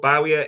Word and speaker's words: Barcola: completely wrong but that's what we've been told Bowerer is it pronounced but we'll start with Diamande Because with